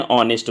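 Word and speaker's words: honest: यहाँ पर हरी इज एन ऑनेस्ट बॉय होगा, क्योंकि उच्चारण इसका ओ से हो रहा है, एच से नहीं, तो यहाँ पर ये एरर था।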